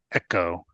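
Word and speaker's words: ekō: So anyway, so directing a virtue, echo. Is that how it's pronounced?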